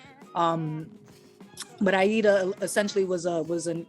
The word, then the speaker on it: Aïda: you doing I eat uh oh Miguel yo pronounce is is Aida that's how I'm supposed to say it yeah